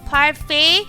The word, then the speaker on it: parfait: Oh, I I should probably parfait. I said it right the first time par. But there's a T at the back. Why isn't Doy do silent T?